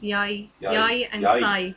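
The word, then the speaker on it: Yae: How's that pronounced? Yai? Yi? Yai.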